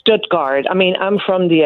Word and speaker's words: Stuttgart: It's it's Stutgard. I mean, I'm from the area. That's how we pronounce it. Stoodgard, but most people say Stogard.